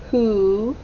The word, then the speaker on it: who: the h or w it sounds like it starts with an h but it starts with a w very tricky who sold old ah s